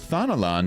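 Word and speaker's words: Thanalan: Alas, we did not count on the serpent reavers venturing as far as Thanolan to supplement their cash. I'm pretty sure that's how to pronounce that word, right?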